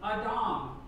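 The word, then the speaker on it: אדם: adam from the creation story of genesis is pronounced in hebrew adam and it literally means dirt or earth soil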